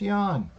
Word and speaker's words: Ian: calling him ian and his name's not pronounced ian it's pronounced yawn like it's very fast if you say ian really fast it's yan and then it's i